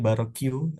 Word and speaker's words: Barok: termasuk juga ada Barok ini Barok bacanya Barok sama gaya New York